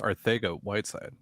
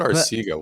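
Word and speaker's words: Arcega-Whiteside: know it is pronounced arthego whiteside right it's like barcelona oh i said our sega why would i i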